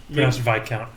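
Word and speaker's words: viscount: ooh the ravaged Harps the VIS accounts door VI count oh really s is silent yeah weird the vi counts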